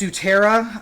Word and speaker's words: Sutera: And this is pronounced Sutera, apparently, according to the ads that I saw on Instagram that I keep getting.